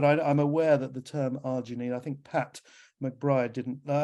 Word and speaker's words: arginine: daughter called Janine, and then you just say it's arginine. But it's anyway, there you go. Yeah, I think Pat has just put that in the chat about the arginine, if that's how you pronounce it. That was a question that we've had a lot as well, is how do you pronounce it? But it is arginine.